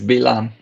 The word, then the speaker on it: Bilam: In Hebrew, it's Bilam.